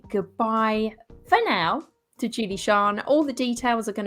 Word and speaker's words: Sian: And Shan is spelt SIAN.